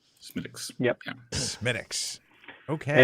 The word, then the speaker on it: Smithwick's: know how to pronounce properly it is actually pronounced smitics smiticks yup minix okay it's about a h center